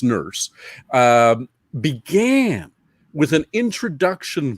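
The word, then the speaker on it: Nourse: writer named alan e nurse that's how it was pronounced n-o-u-r-s-e but pronounced nurse um began with an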